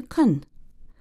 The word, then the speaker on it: can: In a previous lesson of the day, Andrew and I explained how speakers of English change the pronunciation of the verb can when they talk more quickly. Can changes to kun.